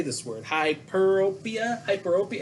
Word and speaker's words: hyperopia: know but it's hyperropia so i gotta remember hyper and rope but um what happens